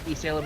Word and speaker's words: Elysium: Like disco, actually like disco, and then Esalem is spelled Elysium.